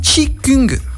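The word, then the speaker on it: qi gong: le thi cong c'est donc ça s'écrit kuti géo au géo ng pardon et ça se dit chic küng le thi cong hockey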